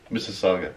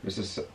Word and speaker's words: Mississauga: Mississauga. Mississauga.